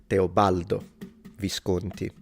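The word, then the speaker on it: Teobaldo Visconti: His name was Teobaldo Viscanti. He wasn't even or Teobalo. That's the first thing he missed messed the pronunciation but I probably missed my pronunciation in English 15 times during this live stream. So not a big deal but it is teobaldo visied.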